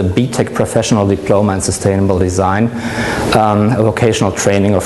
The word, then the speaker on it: design: to the Industrial Revolution, and this is the time since we pronounce it the English and not the Italian way. So the German word for design is design.